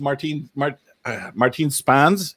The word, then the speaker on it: Martine Spaans: We are back and this is we're with Martine Spaans.